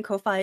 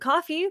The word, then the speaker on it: Ko-fi: Enter Ko-Fi, exclamation Ko-Fi in the chat to check it out. I know some people pronounce it coffee, but we make choices here.